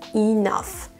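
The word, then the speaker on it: enough: la moitié du chemin prenons le mot assez que vous ne pouvez pas savoir comment prononcer de façon intuitive seulement le voyant ça n'a aucun sens ça se prononce inaf il y en a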